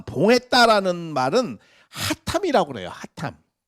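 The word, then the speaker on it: חתם: 하탐. 히브리어로 이 하탐이라고 발음을 해요. 하탐이라고. 이렇게 하탐이라고 발음을 하는 이 하탐은 어떠한 비밀을 감춘다 이러한 의미가 아니고 하나님의 뜻과 아까 말씀드렸잖아요.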